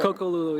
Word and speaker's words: Coco Lulu: Coco Lulu? Or? Coco Lulu, yeah.